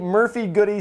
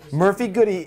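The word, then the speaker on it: Murphy-Goode: manufacturer what Murphy good it has e on the end this is silence I don't care this is how we pronounce it Murphy goody isn't that an ice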